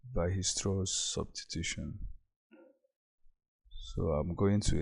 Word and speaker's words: Weierstrass: Weierstrass is pronounced Weierstrass. So that's it. But looking at it, it seems it's weierstrass, but it's pronounced Weierstrass.